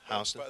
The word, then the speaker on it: Houston: Houston. That's how the locals pronounce it.